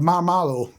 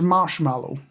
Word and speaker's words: marshmallow: Have they been doing the kiddie thing of marmallow? Or marmallow? Is it marshmallow or marshmallow? I think it's marshmallow. I always say marshmallow.